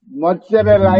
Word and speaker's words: mozzarella: And when that comes, first, முதலாவது that one pronounced almost like a T, the letter T. And the second that is pronounced like the or the. Mozzarella. Z is pronounced the, mozzarella.